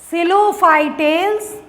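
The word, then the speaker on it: Psilophytales: ठीक P silent रहता है। आप देख रहे होंगे हर जगह पी साइलेंट है।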